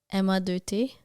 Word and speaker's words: MA2T: get his name perfect how do you say m a2t but like in French how a French person would say it m a2t Emma yeah Emma is that how did I say it right Emma Emma yeah I said it right I think so okay